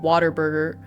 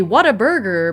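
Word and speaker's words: Whataburger: We everyone here says water burger and it doesn't make any sense. Like like water burger. It's supposed to be what a burger, but nobody here pronounces it that way.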